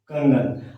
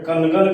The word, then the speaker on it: कंगन: प्रतिनिधित्व करने आया है अनुस्वार का उच्चारण अंग वाला देंगे तब जाकर हम सही बोल पाएंगे कंगन अब अनुस्वार को अनुमान से हम न बना दे तो कनन कहेंगे गलत हो जाएगा अनुमान से म बना